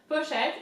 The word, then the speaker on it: pochette: So pochette, P-O, po, and then CH is sh, like sh. You tell somebody to shut up, sh.